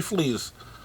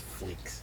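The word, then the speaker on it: Fleecs: By Tony Flees. Hey, Flees. His name's Flees. And he writes about animals. I think it's a hard C. I think it's Fleeks.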